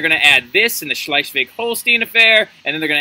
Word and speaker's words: Schleswig-Holstein: the words up here and i'm going to pronounce them for you okay here we go schleichvig holstein all right so those two areas are actually